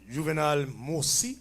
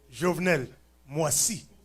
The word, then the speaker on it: Jovenel Moïse: President Juvenal Moïse. Did I say his name right? You think so? Oui. Jovenel Moïse.